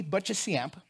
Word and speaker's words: Boccheciamp: from death to life my name is butchesyamp how do you say that just don't i'm